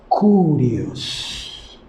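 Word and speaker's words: κύριος: decir el señor es la palabra griega para señor así se pronuncia curioso hacíamos sauro a jesús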